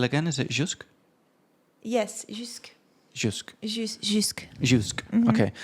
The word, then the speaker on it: jusque: This until is jusque or something.